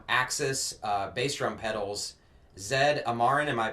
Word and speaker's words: Zed Amarin: guest today from axis uh bass drum pedals zed amaran am i pronouncing that right yes sir all right i